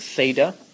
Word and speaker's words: theta: uh hopefully you've seen it before it's called Theta that's how you pronounce it Theta uh and it's a Greek letter it's just